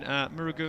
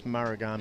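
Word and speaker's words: Marugame: 62.51 back in Murugu in Japan in 2020 was when that PB came. I think you're trying to pronounce Marugami. Is that it? Marugami? Yeah, Marugami.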